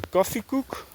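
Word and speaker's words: koffiekoek: I bought yesterday two bananas, uh like a coffee cook. That's how you say it in Dutch.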